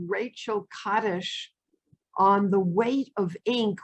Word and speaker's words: Kaddish: one about a work by someone called rachel kaddish on the weight of ink where she corresponds